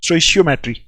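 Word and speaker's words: stoichiometry: इस स्टोइशियोमेट्री को कुछ लोग स्टेक्योमेट्रिक भी बोलते हैं, ठीक है, लेकिन एक्चुअल में जो प्रोनाउंसिएशन है इसकी वो स्टोइशियो है, स्टोइशियो, ठीक है, STOICHIO, देखो CHI जो है शी की आवाज निकालता है, स्टोइशियोमेट्री, ठीक है, इक्वल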